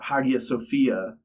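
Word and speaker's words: Hagia Sophia: and the um the Haga Sophia. Um to everyone listening, don't at me about the pronunciation of it. It's got an H in the front. I'm going to say an H sound.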